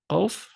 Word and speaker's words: Qaf: Qaf is your Q sound. And if you notice, it sounds a little different than Kap. Kap is just K. Qaf is a guttural K, but like a sound.